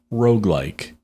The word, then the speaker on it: roguelike: like or Rog likes Rogue are spell it R o g u e sometimes there's a hyphen here that l i k s like is it like it's Rog like MH like it's a descriptor it's an adjective okay